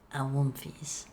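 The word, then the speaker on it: Awoomfies: It is spelled A-W-O-O. That's awu. And then and then mfees. M-F-I-E-S. Awumfies. It's like the spelling bee.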